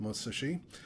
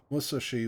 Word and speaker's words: Musashi: tend to say Musashi the pronunciation I understand is probably closer to Musashi where basically there's no stress on any syllable I did get chastised